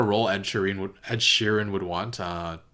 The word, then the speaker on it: Sheeran: Lannister men featuring ed sheeran I was pronouncing his name Shireen like Shireen Baratheon but it's ed Sheeran I don't know if